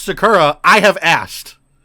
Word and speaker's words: Sakura: know Sakura the the Chinese place it is pronounced Sakura I have asked like them yes them is